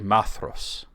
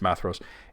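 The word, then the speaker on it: Maedhros: you know it's maos it tells you the AE there's no sort of accents on them so it's like a a like cat and then the DH is like a soft th as in Father maos you know you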